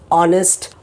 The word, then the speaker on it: honest: is the phonic sound, but you have it silent in many words like honest, honor, are, all that H is there but it is silent.